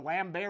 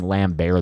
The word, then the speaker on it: Lambert: of comments asking me why i was pronouncing lamb bear that way isn't that how you say his name how do other people say it lambert i thought it was for sure christopher lambert so khan's almost as disappointing